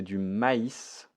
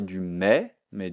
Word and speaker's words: maïs: correction alors ici c'est du maïs du maïs attention ici ce i je le prononce i donc je ne vais pas dire du mais du maïs de to dot de